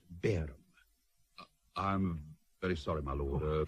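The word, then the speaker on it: Barham: to Downing Street with its main contents Lord baram but what Mr Pitman certainly do now is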